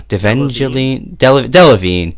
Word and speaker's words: Delevingne: Delevingne.